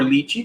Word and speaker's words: lychee: like they're gonna have a light cheat tea or lychee depending on you pronounce it uh that's